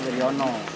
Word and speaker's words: Wirjono: Ya ini bulan 11 tahun 1965 pada itu kan menurut GM Mister Wiryono, kalau ejaan lama kan Wirjono gitu kan. Ejaan lama Wirjono, bacanya itu Wiryono gitu. Bacanya kan Wiryono.